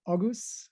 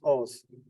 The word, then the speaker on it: Oguz: Oguz, would that be right? It's Oz, but Sorry? The G is silent. It's like Oz.